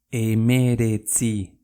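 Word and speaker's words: hemeretzi: ¿Cómo se escribe? Emeretzi.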